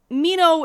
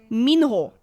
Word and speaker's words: Minho: Don't just settle for, yeah, Mino is okay. It's not. Minho, Minho, something like that, right?